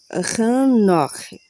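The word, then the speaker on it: Hanokh: 162 anos e gera a Enoque, que aí no texto hebraico, aqui no texto hebraico está como Hanque, OK?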